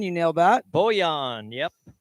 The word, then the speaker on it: Bojan: Bojan, yep. Well, the J is like a yeah.